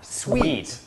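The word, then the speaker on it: suite: อย่าง งี้ คือ ว่า ไอ้ ห้อง เนี่ย เรา ออก เสียง ผิด อ้าว จริง หรอ ใช่ ออก เสียง สูตร ไม่ ได้ มัน มี ตัว มัน สะกด เหมือน สูตร แต่ มัน มี ตัว อี ตาม หลัง มัน เป็น คำ ที่ มา จาก ฝรั่งเศส ต้อง อ่าน ว่า Sweet sweet ไม่ ได้ แปล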